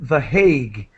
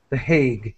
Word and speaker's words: The Hague: international courts are in The Hague. That's how we pronounce it in English. The Hague.